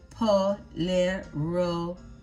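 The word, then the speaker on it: pollera: This Panamanian folklore dancer wears a palero, pronounced polero, the typical dress at this historical site, which is called the Panama La Vieja, or the Old Panama.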